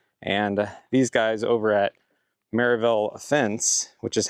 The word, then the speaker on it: Sevierville: Time is money, and these guys over at Sevierville Fence, which is how they pronounced it, had great reviews.